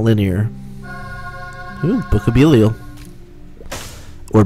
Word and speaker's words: Belial: Ooh, Book of Belial. Or Book of Belial, as chat members have informed me it's pronounced.